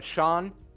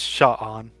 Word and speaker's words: Sha'an: You said you were Sean, It's Sha'an. Sha'an, Romeo, and Sha'an the Mon, like the man, but the Mon, because it rhymes.